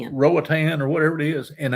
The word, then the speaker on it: Roatan: Rogabatan or Roatan. Rowatan or whatever it is.